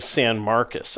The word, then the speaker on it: San Marcos: It sounds like And you keep saying San Marcus. I've been saying San Marcos. So that's how locals You said you're you've been naturalized, right?